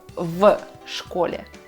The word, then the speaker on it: в школе: Поэтому мы произносим предлог и слово вместе. В школе. Наша «в» превращается в «ф», и это нормально, потому что так нам удобнее произносить это слово.